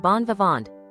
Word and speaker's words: bon vivant: Pronounced something like bonvant. The ingame muted nasal sound similar to the ingen singh.